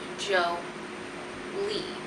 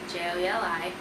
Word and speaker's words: JOELI: Pronounced JOELI. JOELI. You're very welcome. Most people have gotten my name wrong, so my name is pronounced JOELI.